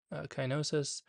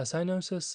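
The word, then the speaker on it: cyanosis: a person be experiencing the first one is sinosis or kinosis usually it's pronounced as sinosis a sinosis is uh a bless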